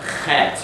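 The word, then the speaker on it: חית: Het, you have to pronounce in the back of the throat.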